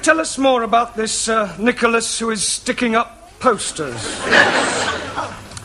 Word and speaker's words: Nicholas: upon a time there was a man called nickel us right now once upon a time there was a woman called nickel and it's pronounced Nicholas all right once upon a time there was